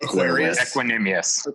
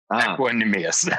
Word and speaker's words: Equanimeous: Equanimeous. Yeah. Equanimeous. The age of Aquarius.